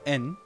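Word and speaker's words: 円: Anyway, so we have like Japanese official currency is the yen, which is pronounced en in Japanese. That's an important distinction. It's not all yen, it's en.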